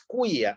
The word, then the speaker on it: qui: Quia, otra vez el quia, y otra vez la C con la I. Quia fecit mi, la H muda, magna. Qui, al igual que quia, ¿sí?